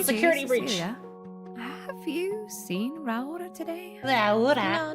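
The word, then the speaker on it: Raora: Raura? Raura? What's going on in there? You have to say it like that. That's how you say it.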